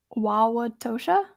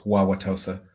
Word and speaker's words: Wauwatosa: have never been there wawa tosha very very close wauwatosa there's a hidden h or something in there that people throw in like you did yeah i'm in